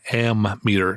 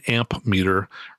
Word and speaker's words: ammeter: or amperes using an ammeter, not an amp meter. Remember, it's an ammeter, which is spelled with two M's and no P.